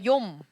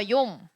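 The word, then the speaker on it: יום: 그리고 예슈와 뭐 예후다 이렇게 모음이 야, 요, 예 이렇게 발음되어지는 건 다 요드고요. 한 가지 더 말씀드리면 욤이라는 히브리어가 있는데 따라해 볼까요? 욤. 한 번 더 욤.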